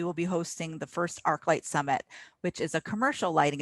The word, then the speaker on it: ArchLIGHT Summit: ArchLIGHT Summit is how we pronounce it, I'm told.